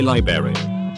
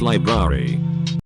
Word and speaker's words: library: i'm stupid double quote say libary it's pronounced library jeez make super wake